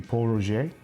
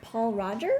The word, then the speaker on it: Pol Roger: know I'm an old man this is the Paul Roger and often mispronounced you mean it's not Paul Rogers no laughs hate it say it ain't so